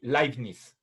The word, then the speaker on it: Leibniz: El apellido de Leibniz, bueno, si nosotros pronunciamos como en alemán, entonces, por favor, el diptongo conformado por la EI en español se pronuncia AI, es como Einstein.